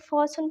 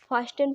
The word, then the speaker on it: fasten: इसी प्रकार देखिए FASTEN, तो टी के बाद गाइज क्या आया है, EN, तो इसको हम क्या पढ़ते हैं, फॉसन पढ़ते हैं।